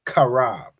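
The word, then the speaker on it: חרב: say sword in Hebrew the Hebrew word for sword is kab all right I'm uh c h a r a b that's how you say sword kab all right if you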